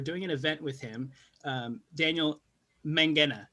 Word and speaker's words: Daniel Mangena: For those of you who don't know Dan, we're doing an event with him, Daniel Mangena, right? Yes. That's how I pronounce it.